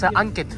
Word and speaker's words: Ankit: he was really nice what's my name it's Ankit yeah oh you said it really right because you said the pronunciation very right you know Salman Khan